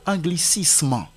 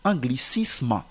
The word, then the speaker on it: anglicisme: c'est parfois le mot anglicisement que les gens lisent comme anglicisme non la lettre S ici ne se prononce pas comme Z c'est anglicisme socialisme et non socialisement